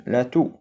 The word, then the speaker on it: toux: الحمى la grippe الإنفلونزا la toux السعال إكس ما كنطقوش la toux le vomissement التقيؤ le